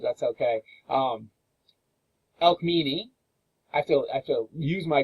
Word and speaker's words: Alcmene: When you come to C's, you're trying to pronounce a C, it's always pronounced like a hard K. There's no soft C's in ancient Greek. So anytime you see a C like Alcmene, and here is Chloris, it's never ch, it's never the soft C.